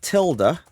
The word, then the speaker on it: tilde: and where we going to install this that tilder that's the pronunciation for that by the way I always called it a til I have no idea why but that tier